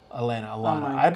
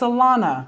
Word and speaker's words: Alana: to watch the video elena i think i'm saying it wrong right now it's alana alana a to z